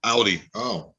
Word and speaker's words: Audi: It's supposed to be pronounced Audi because it's German, and AU in German is Au.